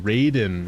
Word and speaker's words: Raiden: Or Raiden. Raiden. Raiden. Not Ryden.